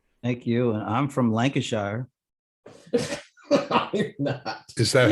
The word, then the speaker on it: Lancashire: you and i'm from lancashire is that how they say it there no we say that was lancashire well in wilmington delaware we say lancashire you pronounce the whole shire word we just say yorkshire